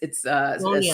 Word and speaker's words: Sonja: I know the J throws everybody off, but it's Sonia, Sonia with a J.